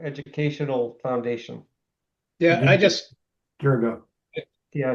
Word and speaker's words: Dirigo: No, That's funny because you hear hundreds of people on TV and radio and everything call it Dirigo. Yeah. Dirigo? Dirigo. Is it native? It's derived from Latin.